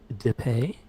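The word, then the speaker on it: Dippé: it is directed by mark a z depay his accent on the e uh i looked at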